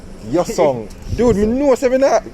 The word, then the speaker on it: Hyosung: How you pronounce? Hyosung. Hyosung.